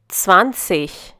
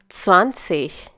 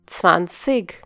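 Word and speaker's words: zwanzig: swansea once again swansea when g from the part of an IG suffix it is pronounced as ish you might also find some people pronouncing this number as van sig this is because they have a different dialect so now you know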